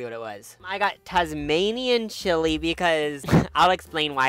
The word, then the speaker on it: Tasmanian: animal being named that Tasmanian Devil is just like so scary is it titanium Tasmanian oh okay I've been mispronouncing it but that's just scary